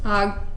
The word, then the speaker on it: Hogg: Now show David, is it Hogue? How's he pronounce his name, Amanda? Hogg.